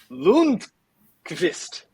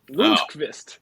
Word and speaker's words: Lundqvist: Here's the pronunciation. They did include the guide. It is Lundqvist. Lundqvist.